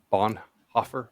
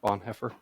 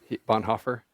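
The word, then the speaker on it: Bonhoeffer: this guy's name d Dietrich Bon Hofer Bon heffer I think you nailed it the first time Bon Hofer he was a uh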